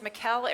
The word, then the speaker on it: Mikkel: know me very well, my name is Mikkel. It rhymes with Michelle, and it's spelled similar to Michael. So if you get an email from a Michael, it's not Michael, it's Mikkel, it's me.